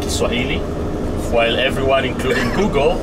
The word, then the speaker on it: Kiswahili: First of all, you pronounce it correct because it's called Kiswahili. While everyone, including Google, says Swahili, but it's called Kiswahili.